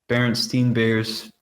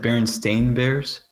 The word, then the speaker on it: Berenstain: I'm pretty sure people thought it was Berenstein Bears because that's how they pronounced it. No yeah, one ever said Berenstain Bears.